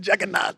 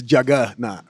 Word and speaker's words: juggernaut: juggernaut but jacket not it's Jagga not yes yeah got a